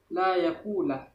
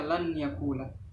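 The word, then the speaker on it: لن يقول: Membacanya harus la yakulah, tidak boleh membaca lan yakulah, sebab nun sukun sudah memasukkan menjadi satu dengan huruf ya sesudahnya.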